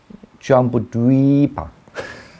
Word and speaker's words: Jambudvipa: So long vowel. Jambudvipa.